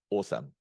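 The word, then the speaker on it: OWSM: we are the uh name it o WSM open whisper style uh Speech model and please uh pronunciate it awesome okay so let me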